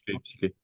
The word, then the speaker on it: Psyclé: hein, si on dit, je ne sais pas si on le prononce. Psyclé. Émotion à la fin, Psyclé. Il y a un nez, d'accord, Psyclé.